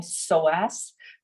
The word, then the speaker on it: psoas: The funky Greek name psoas, but it's spelled with a PS at the beginning.